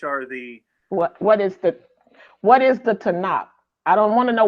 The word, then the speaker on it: Tanakh: The 3 letters TNC or TNK. Okay. When you put it together, you pronounce it Tanakh.